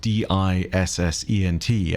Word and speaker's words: Descent: And for those wondering, that is not dissent spelt with D-I-S-S-E-N-T, as in to disagree with something quite vocally. It is dissent like a submarine, going into the deep.